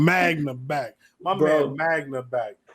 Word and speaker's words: Magna: Any thoughts we wanna share for the manga highlights? First thing gotta be said on this podcast. Period. My nigga Manga back. I said his name wrong. Magna back.